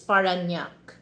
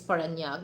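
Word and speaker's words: Parañaque: city paraki cuz actually when you Google that guys you know they sound is spanak but you know if you pronounce that in Filipino pronunciation is paranak he has a hard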